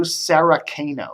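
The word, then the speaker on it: Saraceno: also we're hearing that John sakano I believe how s a r a CE n o sakano that's how I would pronounce it he used to work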